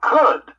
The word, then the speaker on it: could: of information by um could that rhymes with word are good just ignore that l when you say crude